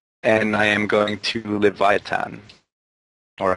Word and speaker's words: Leviathan: server very cool and I am going to leviatan or how you pronounce this pronounce it's Leviathan um would it just make your guys' lives